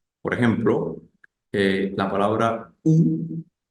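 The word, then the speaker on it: où: en francés sería u sin el acento ambos suenan igual Entonces cómo se sabe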